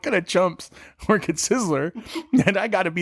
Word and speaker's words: Sizzler: my life was it sizzly he he he worked at sizler really he worked at sizler he was also good at adding first you're not saying it right it's Sizzler